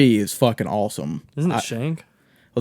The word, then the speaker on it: Shang: Isn't it Shank? Well, they pronounce it Shung because it's Okay, like but it has an A in it.